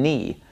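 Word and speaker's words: νι: me and knee knee looks just like an English lowercase V okay so when you're reading something in Greek and you see this letter you're gonna want to pronounce it like a V sound but it doesn't make a V sound it makes an N sound this is knee knee so you got to get used to pronouncing this as an N me this letter makes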